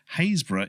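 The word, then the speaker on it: Happisburgh: way they're pronounced so the girls at home haze bruh is spelt Hattiesburg H appi SB eurgh correct mentioning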